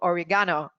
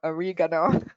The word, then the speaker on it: oregano: Let's go back to oregano or oregano.